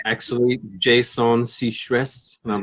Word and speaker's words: Seacrest: Like we'd known each other on social media, Jason Seacrest. And I mean, that's how his name's pronounced, right? Like Ryan.